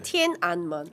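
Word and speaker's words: 天安门: 근데 천이 그 하늘천이 티엔이에요. 중국어 이제 중국어로 발음으로는 티엔. 네. 그다음에 안은 안입니다. 안. 네. AN 안이고 문은 먼이에요. 네. 그래서 티엔 안먼.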